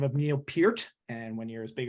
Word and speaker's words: Peart: the name of Neil Peart. And when you're as big a Rush fan as I am, it's pronounced, looks like Pert. But that's not how, that's the proper way to pronounce it.